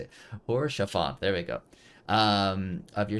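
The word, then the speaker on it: Haurchefant: Horshaphant, there we go.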